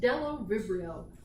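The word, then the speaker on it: Bdellovibrio: The next genus is Delovibrio. The B on this word is silent.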